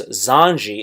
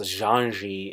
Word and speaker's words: Xandy: Younger by 6 years, Zanji, it's Xandy, but it's pronounced Zanji if I'm not mistaken.